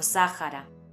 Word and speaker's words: Sáhara: Aunque en español la "h" no se pronuncie, en algunas palabras procedentes de otros idiomas es habitual pronunciarla como una "j" aspirada. Algunos ejemplos son "hámster", "hándicap", "Hawái" o "Sáhara". Primero, vamos a ver en